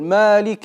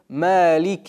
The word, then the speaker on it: مالك: А другие читают его с фатхой, وبعضهم يقول مالك يوم الدين. что тоже неверно. Нужно читать так. مالك يوم الدين.